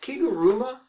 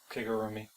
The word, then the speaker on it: Kigurumi: Is it Kiguruma? Kigurumi. Kigurumi.